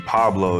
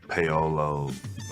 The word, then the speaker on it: Paolo: a lot i mean pablo is is very common uh even though there's no bee in my name i think they just you know default to that um paolo a lot of different mispronunciations but what about on the